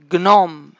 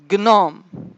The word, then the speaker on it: gnome: Le G, je vais prononcer le G tout seul et le N tout seul. Comme gnou, gnou, diagnostic, stagner, stagner, gnome, gnome, diagnostiquer, diagnostiquer.